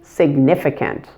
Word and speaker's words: significant: You just need to make sure that you stress the middle syllable, significant, and relax all the I's in the word.